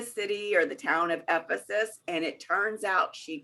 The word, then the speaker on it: Ephesus: know if it's not Ephesia, and I don't know if it's Ephesus or if it's Ephesus, I don't know how to pronounce it. So she's watching the class and she's listening to that, and she immediately calls me up and she says, I want you to know that it's Ephesus.